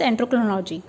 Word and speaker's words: endocrinology: देखिए एंडोक्रोनोलॉजी, एंडोक्रोनोलॉजी, एंडोक्रोनोलॉजी, that is a glands study of glands or having a discipline study of glands, that is known as endocrinology.